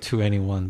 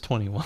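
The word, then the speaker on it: 2NE1: any1 21 you think that's I we keep pronouncing It 2 any1 but it's 21 one really it doesn't fit them they have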